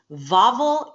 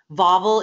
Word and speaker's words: Wawel: Now what you're seeing is Wawel Castle. So nothing in Polish is spelled like it sounds. Wawel is spelled W-A-W-E-L. So W's are pronounced like V.